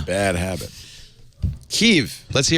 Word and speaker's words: Kiev: She should know and she said Keev. I said this is crazy. This woman can't pronounce this correctly.